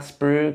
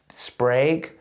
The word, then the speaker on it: Sprague: And I'm like, hey, Tom, actually, that's it's not Sprug, it's Sprague.